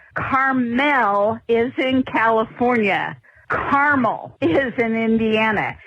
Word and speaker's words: Carmel: You guys keep pronouncing it Carmel. Carmel is in California. Caramel is in Indiana. It's more like the candy you eat than the city by the sea.